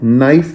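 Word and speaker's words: knife: नाइफ में भी के साइलेंट है।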